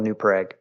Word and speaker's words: New Prague: We actually, it's spelled Prague because there was a lot of people that originally settled there that were from Prague, Czechoslovakia. Got it. But for some reason, over the years, we came to pronounce it New Prague.